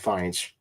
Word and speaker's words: Fiennes: Yeah, Ralph Fiennes. Fiennes, yeah, okay, that's how you pronounce it.